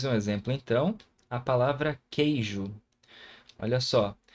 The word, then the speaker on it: queijo: A palavra queijo. Olha só. Por mais que eu tenha a letra U aqui, o som dela não aparece nessa sílaba.